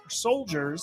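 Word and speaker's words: Souldiers: Soul Dyers, Soldiers, spelled with S-O-U-L.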